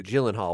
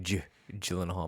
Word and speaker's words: Gyllenhaal: saying his name wrong I say Gyllenhaal what were you saying I said it's a hard I said it with a hard G but it is it's probably J Gyllenhaal Maggie Gyllenhaal Maggie Gyllenhaal